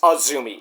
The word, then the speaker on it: AZM: So it's not Kazumi, it's Azumi. It's AZM, pronounced Azumi.